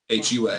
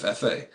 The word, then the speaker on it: Hua: I found out that the Chinese pronunciation of fa Mulan is actually Hulan Hua instead of fa um and in Chinese